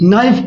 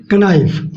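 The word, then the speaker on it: knife: के एन, जब भी के और एन, के और एन जब भी साथ में हो तो के का उच्चारण नहीं होता है, के उसमें साइलेंट होता है। ओके फ्रेंड्स, के हम नहीं पढ़ेंगे उसमें। तो जैसे के एन आई एफ ई, नाइफ पढ़ते हैं इसको, न कि कनाइफ।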